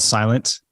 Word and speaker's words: SLNT: It's by a company called Silent. Their website, it's spelled SLNT.